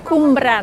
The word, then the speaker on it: Cwmbran: Estamos en el pueblo donde vivimos, que es Cumbran. A ver, vamos a acercarnos, Mónica. ¿Cómo has dicho que se pronuncia el nombre de este sitio? Se pronuncia Cumbran.